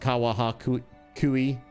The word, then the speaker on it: Kawahakui: You worked with a guy whose last name was Kawahakui, pronounced Kawahu Kui.